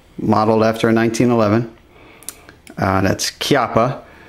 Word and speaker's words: Chiappa: That's Chiappa. It's spelled like this, CH, but it's Italian, so fast fact of the day, CH is a hard sound in Italian, so it's not Chiappa